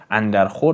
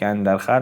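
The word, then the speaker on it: اندر خور: rasm-hā-ye bad andar kharash" it's "andar khor" but I pronounce it "andar khar" for the sake of rhyme of the two brothers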